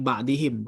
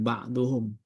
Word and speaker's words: ba'dihim: Bacanya ba'dihim bukan ba'duhum.